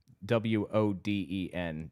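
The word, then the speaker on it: Wodan: I understand they called him Voddin in German. Wo Den. W is pronounced like V's.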